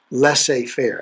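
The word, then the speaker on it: laissez-faire: name that i've had to work on to pronounce it's let's say fair parenting la say fair it doesn't look like lasse but that's how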